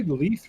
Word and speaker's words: Leith: Do I say Leith right? I think I do. You said it right.